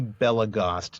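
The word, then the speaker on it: Belegost: So, as I just said, it's actually Belagost, not Belagost. It rhymes with crossed, not toast.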